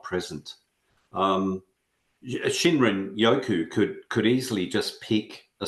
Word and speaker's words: shinrin-yoku: Yeah, Shinrin Yoku.